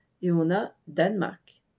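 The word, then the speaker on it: Danmark: mais en danois merci Danemark c'est très simple à prononcer il y a juste le E du milieu qui disparaît et on a Danemark d a n M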